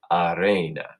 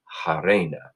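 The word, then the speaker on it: harena: Britain say happy so some Romans instead of honey I would say I Reina that's where we get our word arena because it was filled with hot Reina I like to pronounce my ages in my classes will pronounce our ages will say hey Raina now there was an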